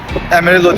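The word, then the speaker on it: Amarillo: Arkamda güzel e Texas Emerillo Emero diye okunuyormuşuz cent var.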